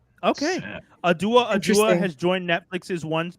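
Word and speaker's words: Awdo: So adua, but it's spelled A W D O, but it's pronounced Adua. Yeah. Okay. Adua.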